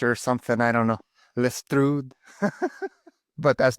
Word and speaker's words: Lestrud: So what's the proper pronunciation? Well, Lestrud.